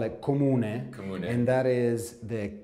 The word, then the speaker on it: comune: Yes, in Italian we call it comune.